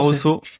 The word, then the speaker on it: Barroso: T'as tout bien prononcé. Barroso.